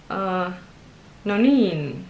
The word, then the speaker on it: noniin: Then we have oh, the one which is a bit longer in the second syllable, and the stress goes on the first one. Nonin, no, nonin.